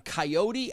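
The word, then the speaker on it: Kayode: Bulls starting offensive lineman Coyote Awosika's first name is spelled K-A-Y-O-D-E.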